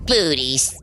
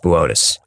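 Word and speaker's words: Boötes: Booties. Boötis. It says booties on the teleprompter. It's pronounced Boötis.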